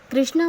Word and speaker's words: कृष्ण: पीतांबर है और कृष्णा कृष्णा मतलब द्रौपदी जो द्रौपदी थी उनको कृष्णा बोलते थे क्योंकि वो कृष्ण भगवान की सखी थी इसलिए प्रोनाउंसिएशन में हमेशा कृष्ण का उच्चारण करिए ना कि कृष्णा का क्योंकि अगर कृष्णा